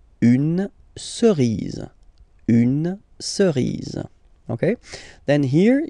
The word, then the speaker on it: cerise: Remember, final E not pronounced, cerise, une cerise.